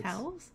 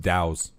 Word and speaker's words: Taos: Let's say that's Towels? Taos. Towels? Taos, New Taos. I usually read it as Tacos, New Mexico when I see it. Towels? I thought it was towels. Taos. Taos. It's pronounced Dows.